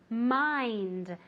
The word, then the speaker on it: mind: Mucho cuidado con la pronunciación de mind, okay? Porque aunque se escribe con una I, se pronuncia como si fuera AI, mind. Y hay que pronunciar esa D final, okay? Porque si no parece mine, de mío, ¿no?